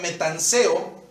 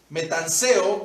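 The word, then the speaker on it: metanoeō: en las escrituras es la palabra metanseo, metanseo con acento en la O, metanseo, y la palabra metanseo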